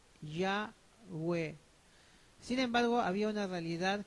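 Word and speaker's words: Yahweh: aparte de este nombre no cuyo pronunciación es ya web sin embargo había una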